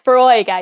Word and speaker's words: Foróige: It's Foróige, yeah. Foróige. Okay, forgive my pronunciation.